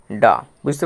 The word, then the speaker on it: dove: তাহলে ডি ও এর উচ্চারণটা কি হবে? ড এ আকার ডা। ড যুক্ত আ সমান ডা। বুঝতে পেরেছ?